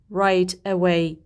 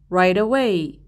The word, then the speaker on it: right away: من این دوتا کلمه رو جدا جدا تلفظ نمی کنم، به هم وصلشون می کنم. نمیگم right away، میگم right away.